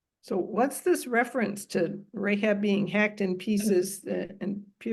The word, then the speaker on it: Rahab: Okay, so for the first comment is this is Rahab with a hey and not Rahav with a chet, who is Rahab the prostitute in Joshua.